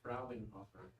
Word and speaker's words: Frauenhofer: Brother Fraunhofer says, pronounce it Frauenhofer. Yeah. Oh, that's true. Because it's the plural for That's what he told us. Frau, isn't it? Yeah. Yes, it Yeah. is. Just say Frauen.